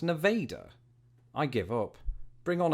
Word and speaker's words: Nevada: for this what's that there's a city in Iowa with the same name it's pronounced Nevada Nevada I give up an easier one yo that's sick Darth Vader bro nevader it's pronounced Nevada I give up bring